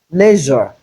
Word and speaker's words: leisure: So in place of EI, it is not leisure, it is leisure.